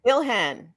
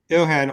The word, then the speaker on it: Ilhan: omar came out um pronounced her first name for me ilhan ilhan omar came out and